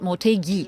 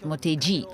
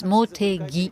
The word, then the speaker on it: Motegi: Oh, by the way, it's pronounced Motegi and not Motegi, like many people overseas pronounce. Right. It's Motegi. It's G-I and Gi.